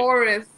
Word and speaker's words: Oris: Oris.